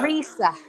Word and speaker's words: Risa: Risa. Just Risa. Long E.